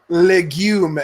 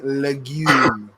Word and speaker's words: legume: it is it legume is that a legume ldg ume lagoon I thought its legume emphasis on the wrong syllable I don't know that